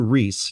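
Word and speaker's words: Rhys: yeah it's it's a new bio of Gan Reese it's spelled RH Ys and I mispronounced it actually for a long time before someone told me I was mispronouncing I said riss or I don't know how I said it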